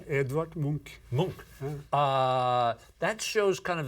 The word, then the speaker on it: Munch: That's not how you pronounce his name? Edvard Munch. Munch.